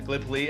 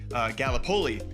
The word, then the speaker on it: Gallipoli: because being from Iowa, I said Gallipoli, and it is pronounced Gallipoli.